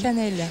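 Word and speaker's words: Caneele: Et puis, j'arrive pas à prononcer votre nom de famille, je vous laisse prendre le micro. Canel.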